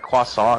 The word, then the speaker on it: croissant: I had someone I had had someone else do the window and then they're like, "Here's your croissant." And she's like, "Actually, do you know it's pronounced like quasant?"